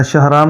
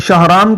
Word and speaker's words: شہرام: وہ الگ بات ہے۔ تو اصل میں یہ شین کے زبر کے ساتھ پڑھا جاتا ہے، ہاں ساکن ہے، آگے را کے اوپر زبر ہے، آگے الف